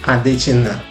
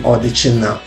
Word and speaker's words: Odechina: That's why you see how this name came to be Adechina, which is supposed to be Odechina.